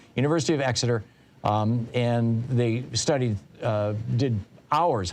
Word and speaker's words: Exeter: This is in University of Exeter. Excuse me, I was saying it wrong. University of Exeter, and they studied, did